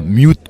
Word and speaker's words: Mute: Mais plutôt comme un peu les Anglais, quoi, mute, quoi.